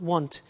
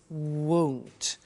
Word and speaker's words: won't: Be careful with the pronunciation. It's not want, it's won't.